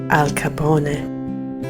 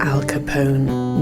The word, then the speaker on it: Al Capone: Capone or is as his name should be pronounced Al Capone but obviously he's known in history with his naturalized American Al Capone name he was born into an immigrant family